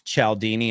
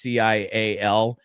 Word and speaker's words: Cialdini: I don't know how you pronounce his last name. It's Cialdini. It's Cialdini.